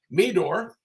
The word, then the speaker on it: Meador: we bring her on Jackie I'm hoping I pronounced her name right Meador uh she started over 20 years ago am